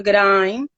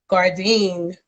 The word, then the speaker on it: Gourdine: I love how she pronounces it because it sounds like French or something. But it is. Yes, I say Gourdine, but she is a phenomenal woman.